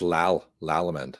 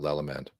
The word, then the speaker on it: Lallemand: No, it's Lallemand, not Lallemand. I did spell it wrong, but thankfully the internet fixed me.